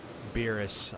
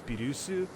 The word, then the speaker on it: Beerus: Beerus. I'm still refusing to actually call him that. I'm calling him by his actual Japanese name, Bills. Why Beerus? That I don't, because the proper Japanese pronunciation is Birusu, so Beerus is just